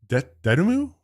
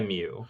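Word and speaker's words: Dotemu: And this was made by Dedemu, I think is how you say it, and Guard Crush Games. I think it's .emu. Dedemu. Or Okay. .mu, like emulation.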